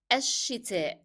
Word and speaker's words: الشتاء: الشتاء. الشتاء. I dropped the pronunciation of lim and I stressed on sheen because it's a shadda letter.